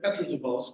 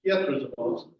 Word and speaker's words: Petrozavodsk: of Petrozavodsk or Petrozavodsk, because of course all E's in Russian are sort of a Y-E, so it's a Y sound. So my pronunciation not that good, but instead of Petrozavodsk, it's Petrozavodsk.